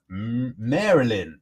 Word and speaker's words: Maryland: we go thank you is pronounced Marilyn Marilyn thank you very much